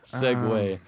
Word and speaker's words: segue: Italian segu it follows I would expected you to pronounce that a little bit better segue son of a pronunciation in English differs from The Original Italian pronunciation I can't figure out